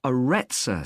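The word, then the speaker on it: Aretsa: It's called the Arettza Center. That's spelled A R E T S A.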